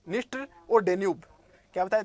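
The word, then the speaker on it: Dniester: इनमें नया नया आता है तो इनके पहले डी लगता है, इसमें प्रोनाउंसिएशन है वो, इसका ये डी है वो साइलेंट हो जाता है।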